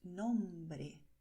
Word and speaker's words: nombre: Y la gente quiere saber cómo se pronuncia nombre. Nombre. Y ves que aquí la letra R se pronuncia con la punta de la lengua sin vibración, ¿vale?